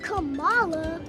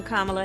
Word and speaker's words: Kamala: a politician of substance pamela it's not kamala it's not camella but she still had to teach the country how to say her name i'm kamala harris and she was